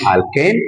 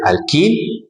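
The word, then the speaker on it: alkene: talked about this sometime student cannot pronounce this thing very well but we call this one alken with a with e we call it alken then why we call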